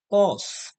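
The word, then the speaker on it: cos: হচ্ছে সাইন আচ্ছা কোসাইন কে সংক্ষেপে বলা হয় কস এটাকে আমরা পড়বো হচ্ছে কস বলে জানবো টানজেন্ট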